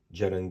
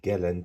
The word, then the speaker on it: gellan: And that is I think an attempt on the part of the gel and gum to lift it. Right. So I'm correcting my pronunciation of gallon to gel because it is geland apparently.